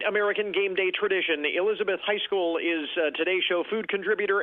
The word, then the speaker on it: Heiskell: And before we start, I want to make sure, is that Heiskell? Is that how you pronounce it? Yes, Heiskell.